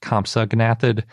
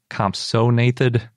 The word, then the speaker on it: compsognathid: I can't remember how long ago I realized that it wasn't pronounced compsognathid, but compsognathid.